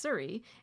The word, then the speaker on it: Souris: My journaling here says, when we first booked this trip, I thought we were discovering a new little community, not realizing it's pronounced Surrey, and it's actually a well-known common destination.